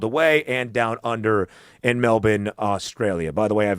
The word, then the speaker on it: Melbourne: It's not Melbourne or Melbourne. It's Melbour just for what it's worth. I don't know. So the R is silent.